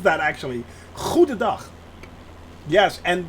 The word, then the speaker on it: Goedendag: Goedendag. That's how you pronounce that, actually. Goedendag. Yes, and the hard G is, I know, poison to most people's ears.